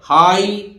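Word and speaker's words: high: form हो जाएगी पकड़ा इसी तरह हाई देखिए जी एच साइलेंट पूरा जी एच साइलेंट है केवल हाई एच आई बोल रहा है हाई माने आप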